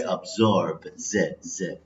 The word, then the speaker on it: absorb: Okay, so we pronounce Z. Okay, absorb, Z.